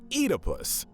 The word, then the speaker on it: Oedipus: Oh, and as an additional bit of trivia, icing on the cake, it turns out that the correct pronunciation of Oedipus is actually supposed to be Oedipus.